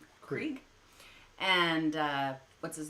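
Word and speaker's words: Krige: Krieg.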